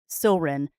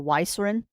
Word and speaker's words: Ysilrin: Like my big chimera's name is Silrin, but I have had many people do it as Silrin or Ysilrin because of the Y on the front. I'm like, no, the Y is silent.